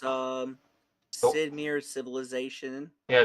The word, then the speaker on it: Sid Meier: So all So I'll it's oh, Sid Meier's Civilization. yeah, said Meyer. Sid Meier. Okay, I Yeah. So butchered pronunciation of that.